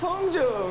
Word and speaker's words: Hongjoong: This is how they pronounce their names. Hi, my name is Songhwa. My name is Hongjoong.